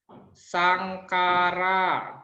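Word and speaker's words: saṅkhāra: Ingat ya, kalau ada tulisan KKH, nanti bacanya biasa aja. K, bilang bacanya K aja.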